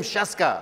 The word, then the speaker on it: Scieszka: Everybody just has to know how to pronounce Scieszka. That's all you have to learn today. Everyone scream Scieszka.